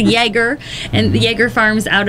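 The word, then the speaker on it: Ioerger: Nobody knows how to pronounce them because it's I-O-E-R-G-E-R. So I don't. In the community, I think they're pronounced a couple different ways, but it's a Jaeger, and the Jaeger Farms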